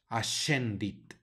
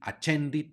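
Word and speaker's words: ascendit: tercia tercia luego tenemos otra sc en esta palabra Así es que la pronunciamos a shendid o si alguien quiere decir a chendy está bien también siguiente palabra especial tenemos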